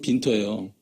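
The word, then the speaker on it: Winter: 빈터라고 나와 있는데 그 영문으로 따지면 윈터고 독일식 발음이 빈터예요.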